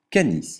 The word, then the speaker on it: canis: Le C se prononce que comme dans canard et jamais ce comme dans cerf. Exemple, canis, le chien.